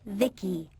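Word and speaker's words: VICI: Holy binary buttocks, you're the by the way, I'm V.i.c.i, pronounced Vicky.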